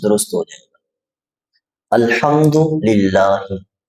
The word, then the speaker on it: الحمد: درست ہو جائے گا۔ الحمد للہ، یہ جو لفظ ہے الحمد، ہاں کو آپ نے تھوڑا سا حلق سے نکالنا ہے۔ الحمد اور الحمد یہ